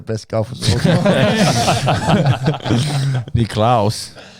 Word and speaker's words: Nicklaus: Nicklaus. That's how you say it in the homelands.